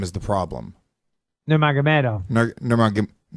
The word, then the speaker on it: Nurmagomedov: Nurmagomedov. Nurmagomedov. Khabib Nurmagomedov. That's a lot. It's very simple, Lewis. He better be a fucking world champion with a name like that. Nurmagomedov, and here's my American accent, you little fuckwit.